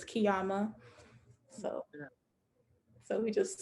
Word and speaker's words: Qiyamah: us that you know the proper way to pronounce it is kiama so yeah so we